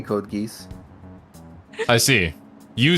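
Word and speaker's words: Code Geass: okay I'm being GID by silver I say code geese I see you say code geese I'm pretty sure the majority of people say code GEOS and that's how you should pronounce it well people say under Hunter and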